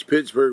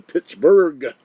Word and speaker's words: Pittsburgh: are proud of the pittsburgh not with the g alone with the h a berg you don't pronounce the h but it's there i don't know why